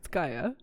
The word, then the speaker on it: Gaia: I've been hearing a lot of people pronounce Gaia wrong. Yeah, it's Gaia. She's a goddess.